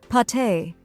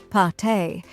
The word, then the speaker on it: pâté: Some examples include salami, suh-lah-mee, prosciutto, proh-shoo-toh, pâté, pah-tay, fromage, froh-mahzh, cornichons, koh-nee-shohn, baguette, bah-get. Final thoughts. In short, mastering the pronunciation of charcuterie is a valuable skill for any food lover or culinary professional.